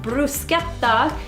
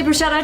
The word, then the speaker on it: bruschetta: talk to you about bruschetta and it's actually pronounced Bruce gets off in Italian but we don't say that like that here so so i will say brushetta just so everybody knows and in this particular